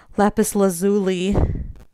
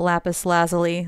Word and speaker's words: lapis lazuli: I got this little jar of lapis lazuli, not lapis lazuli, like it's pronounced in Steven Universe, which is wrong.